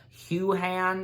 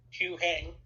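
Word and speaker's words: Huyang: live-action debut appearance of Hugh Han. Am I saying the name right? Hugh Han? Hugh Hang. Hugh Han, is that right? Hugh Hang. Okay, that's how you say it.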